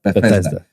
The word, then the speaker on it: Bethesda: Bethesda Bethesda okay so I said it right Bethesda okay cuz ear I said be where' that